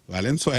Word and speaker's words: Valenzuela: Valenzuela.